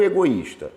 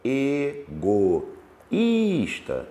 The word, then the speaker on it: egoísta: tinha de tongo aqui agora o egoísta ego issta egoísta tem um iato Ah então egoísta tem iato isso egoísta tem iato e queijo Cuidado hein